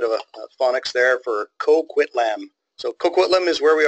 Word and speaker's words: Coquitlam: Vancouver is and the nobody can seem to pronounce the name so they've got a little bit of a phonics there for Coquitlam so Coquitlam is where we are and let's